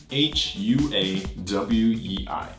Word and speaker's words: Huawei: man so first up we have far away hua w/e I know most people get it kind of right but not quite they say Wally Wally Wally Wally you hear it they say